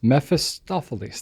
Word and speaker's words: Mephistopheles: So I also don't know how to pronounce this handle. Mephistopheles. Mephistopheles.